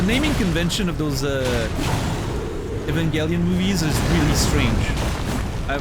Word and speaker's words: Evangelion: I want to rewatch Evangel Evangelion at some point. I'm I'm not going to get used to that hard G makes no sense.